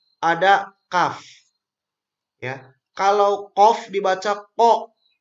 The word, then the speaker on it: kaf: Nah, karena banyak sekali huruf-huruf yang kalau kita tidak tahu cara membacanya maka akan hampir sama. Contoh yang pertama, ada qaf, ada kaf.